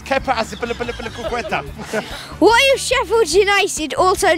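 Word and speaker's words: Azpilicueta: He didn't pronounce it correctly. It's Kepa Aspilicueta.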